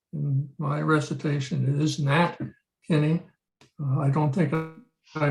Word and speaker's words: Nat Kinney: It is Nat Kinney. I don't think I pronounced it that way, and I apologize.